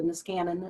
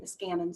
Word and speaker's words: Niskanen: So soon that will just be the Niskanen, and that's how you say it, Niskanen Center.